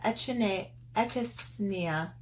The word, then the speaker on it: Echinacea: Pharmacy Honeymoon Glow AHA Resurfacing Night Serum with Echinacea.